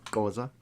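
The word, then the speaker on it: Xhosa: He belongs to, if I'm not mistaken, the Koa clan, XH Osa, pronounced Koa.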